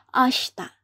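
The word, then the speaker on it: あした: ashta lagi ya Asta walaupun tulisannya ashta Bacanya adalah ashta artinya adalah besok kemudian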